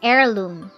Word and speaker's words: heirloom: The word honorable begins with the vowel sound O because the H is silent. Next, blank heirloom.